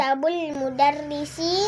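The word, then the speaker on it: مَكْتَبُ المُدَرِّسِ: Jangan dipanjang-panjangin kalau yang enggak panjang. Maktabul mudarrisi.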